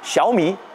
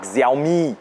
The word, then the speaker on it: Xiaomi: Technologie à présent, Xiaomi et non pas Xiaomi.